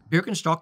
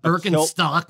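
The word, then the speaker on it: Birkenstock: yes sure beer STS berin stock is how you say it in Germany thank you very much you know what be great it's not birin stock like you freaking hippies Kilt with leader shock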